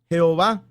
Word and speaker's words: Jehová: él en los 39 libros de esta biblia jehová como el nombre de dios ya ve que es la pronunciación correcta del santo tetra grama o del